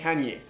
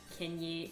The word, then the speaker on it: Kanye: ça ça a du sens quand tu regardes Canier canenyier West mais c'est c'est vrai que j'ai du mal des fois avec les Français qui disent kenyier et c'est toujours super vite ou Kest désolé